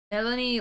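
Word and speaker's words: Mélanie: it's an E accent. E accent aigu. What did you call me? It means the E is pronounced A.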